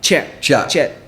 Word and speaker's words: kyat: And do you think that it's the kyat, right? Kyat, the Burmese currency, kyat. Chet. But it's spelled Kyat. Yeah, it's Chet.